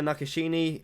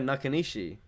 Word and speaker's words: Nakanishi: a Japanese fighter tokitaka nakashini I love the name it's actually really awesome tokitaka nakashini no I said it wrong tokitaka nakanishi oh it's still very